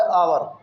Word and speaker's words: hour: अब बहुत से लोग इसको हावर पढ़ते हैं और बहुत से लोग इसे आवर पढ़ते हैं, तो जो इसका सही प्रोनाउंसिएशन है वो है आवर, आवर, आवर।